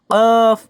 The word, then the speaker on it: ق: কফ উচ্চারণ হবে জিহ্বার গোড়া তার বরাবর উপরের তালুর সঙ্গে লাগাইয়া 2 নোক্তাওয়ালা কফ।